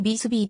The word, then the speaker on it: ヴィスビュー: 中心都市である英語発音に近いビズビーと表記される場合もある現在